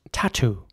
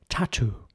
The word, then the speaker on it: tattoo: T Double O and it's pronounced tattoo in British English tattoo it's actually the same in German tattoo brother Hunter told